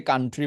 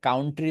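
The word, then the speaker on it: country: একটু মাথায় রাখবেন দেশকে কান্ট্রি বলবেন আজকের পর থেকে কাউন্ট্রি বলা দরকার নেই কান্ট্রি কানের পাশে ট্রি লাগাবেন কান্ট্রি ঠিক আছে সো এইগুলোই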